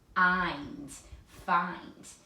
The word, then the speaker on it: find: And the I says its own name. So if we tap it out, find.